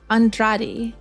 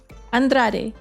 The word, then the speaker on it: Andrade: what's his name Carmelo Carmelo Carmelo Hayes versus Andrade an and or how however you pronounce it Andrade I really like their their their Feud even